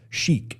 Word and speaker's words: chic: anyway there's a there's a word Chic not an Arab Sheik but Sheik in a sense like C hi i k i c okay Sheik pronounced and Sheik means kind